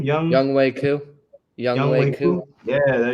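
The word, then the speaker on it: Younghoe Koo: Young Wei Koo.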